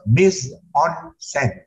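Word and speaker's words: mise-en-scène: anymore next please so Nissan sent is the director's count Nissan is a French term originally from the stage and it is pronounced Miss on Cent and uh it means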